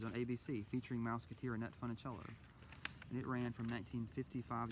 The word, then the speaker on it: Funicello: She calls her Funny Jello instead of Funicello.